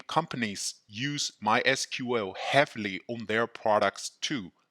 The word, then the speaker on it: MySQL: relational database management system the official way of pronunciation is MySQL it is also common to hear others pronounce it as my sequel why should I learn MySQL because it is